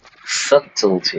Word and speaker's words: subtlety: Subtlety. Good pronunciation there. Subtlety. No B.